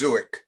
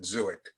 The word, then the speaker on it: Zuich: The proper pronunciation is Zuich, with a Zuich. hard, yes, the hard end to it, Zuich.